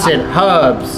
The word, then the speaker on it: herbs: There's an H in there, bro. Pronounce it. Herbs.